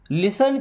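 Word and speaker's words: listen: लिसन carefully, दोस्तों इस word में टी साइलेंट होता है, ओके। इसको लिस्टन नहीं पढ़ना, लिसन।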